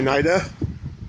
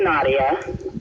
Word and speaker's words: Nadya: It's actually pronounced Nadia. Oh, Nadia. I was always debating that. That's okay. I'm sure you've been used to that your whole life. Yep. I get all different pronunciations, but it's Nadia.